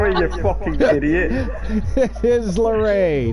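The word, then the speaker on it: Laree: I mean, it is spelled L-A-R-E-E. It could be Larry. It's fucking not, man. It's fucking not. It's fucking not. It's Larry.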